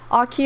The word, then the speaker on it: Aki: Aki is spelled like awkward, like also Aki.